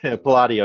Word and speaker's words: Palladio: Palladio, yeah. Palladio. I mean, once again, Palladio, yeah, is more the pronunciation.